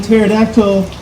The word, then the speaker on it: pterodactyl: Why can't you hear a pterodactyl using the bathroom? I don't know. Because the P is silent.